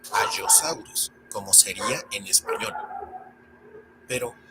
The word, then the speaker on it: Allosaurus: Y hablando de letras dobles, tenemos a la doble L, que se debe pronunciar de esa manera, doble. Es decir, una vez en una sílaba y una segunda vez en la otra sílaba. Veamos, por ejemplo, a, que se pronuncia Allosaurus y no Allosaurus, como sería en español.